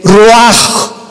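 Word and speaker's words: רוח: El roaj, que la palabra hebrea para espíritu.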